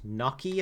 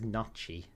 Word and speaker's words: gnocchi: currently eating a plate of fish butternut butternut gnocchi apparently it's pronounced people told me last time i remember that i would i always thought it was notchy but there you go i'm not an italian